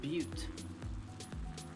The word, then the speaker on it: Butte: So is B-U-T-T-E pronounced butte or butt? I would have said butte.